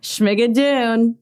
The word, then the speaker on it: Schmigadoon!: Oh, and then I just wanted to bring up before we said goodbye, I'm afraid to pronounce the brand name. Schmigadoon? Schmigadoon.